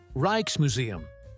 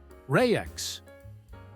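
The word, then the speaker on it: Rijksmuseum: Reich's Museum. You kind of roll the R and the J sounds like I. Reich's Museum. That's what I said. Reichkes. It's more like Rayex.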